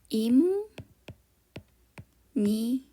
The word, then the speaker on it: 입니다: Перед тем, как начать изучать саму грамматику, давайте разберём, почему это я читаю и ни да, как им ни. В корейском языке есть разные правила при произношении. Одно из них - это когда буква П и буква Н встречаются вместе, то буква П читается М.